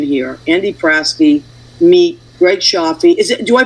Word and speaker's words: Cioffi: predicting a connection here andy fraske mee greg shafi is it do i pronounce it correctly yep okay that's how